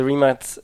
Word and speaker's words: Rimac: sure that happens moving on maybe to the rematch rematch how would you pronounce it exactly well in Croatia it's three mutts remot yeah I know many people have been sports